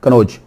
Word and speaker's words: कन्नौज: ये double N भी आता है लेकिन आम प्रोनाउंसिएशन एक ही एन बोल जाते हैं, नून, कन्नौज।